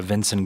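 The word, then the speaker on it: Vinson: members perspective and input my name is uh vincent spelled v-i-n-s-o-n last name is spelled and i serve as the executive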